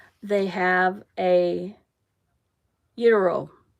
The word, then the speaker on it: gyro: It starts with a G, but you don't pronounce the G.